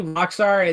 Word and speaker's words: Roxor: Well, apparently, so basically Roxor, this is how you spell it.